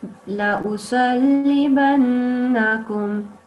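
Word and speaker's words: لأصلبنكم: Because you have to say it with this sudden sort of sound. You have to connect them straight away. You don't make it sound slow, if that makes sense.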